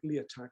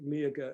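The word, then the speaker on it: Liathach: first hill uh lieger on the paper it looks like lee attack but i think miaga is the correct pronunciation is a a beast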